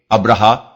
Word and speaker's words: ابرہا: مورخین ابراہام لکھتے ہیں۔ ابرہا غالباً اسی کا حبشی تلفظ ہے کیونکہ عربی میں تو اس کا تلفظ ابراہیم ہے۔ یہ شخص رفتہ رفتہ